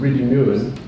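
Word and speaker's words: Rhydymwyn: mine in north wales called reedy newman that's the right pronunciation which obviously was a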